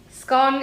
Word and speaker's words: scone: recipes so today I have made some scon scone is the correct pronunciation for anybody who is wrong about that